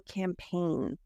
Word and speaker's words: campaign: really important for example campaign the g is silent this is another one